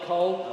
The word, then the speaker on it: Coll: Is that pronounced Cole? Isle of Coll? C-O-L-L. Oh, Cole, is it Isla Cole? Good morning, I could say Isla Cole.